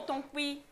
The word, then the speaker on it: Tonkui: C'est le mont Tonkui. Tonkui. Le mont Tonkui. Faut prononcer comme ça.